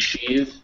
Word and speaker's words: sheathe: And sheathe is a verb and it's voiced.